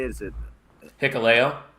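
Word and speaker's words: Hikuleo: Is it Hicleo? Hicoleo.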